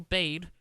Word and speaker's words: Bade: The woman who posted it, her name is Rachel Bade. I think it's Bade. It's spelled B-A-D-E. I'm not sure if that's bad, but I think it's Bade because A and E would make obeyed.